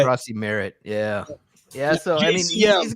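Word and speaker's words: Croskey-Merritt: Yeah, how do you say his name? I don't want to fuck it up. Corey Krosky Merritt, I think is how you say it.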